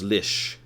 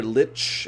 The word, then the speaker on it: Lich: of hear that although usually I hear it pronounced lish when Lich is the second word not the first so Lich King or whatever but on the other side it's like an ebony lish for example alright frost